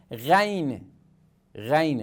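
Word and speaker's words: غين: Ghain, Re. Para pronunciá-lo, é como se estivéssemos gargarejos com água.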